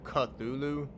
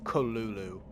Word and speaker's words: Cthulhu: creature like so basically a lot of people call him cthulu but his name how Lovecraft actually say his name is kalulu um the reason why